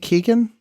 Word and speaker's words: Keoghan: I think Keegan.